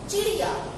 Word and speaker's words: चिड़िया: अब दूसरा वर्ड देखिए, चिड़िया। इसमें देखो ड़ के नीचे बिंदी आई है, चिड़िया।